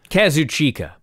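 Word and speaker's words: Kazuchika: will Osprey junior champion against the heavyweight champion Kazu chika that's how you said it to you yes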